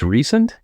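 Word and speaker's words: Rhysand: It's recent, Recent. like sand.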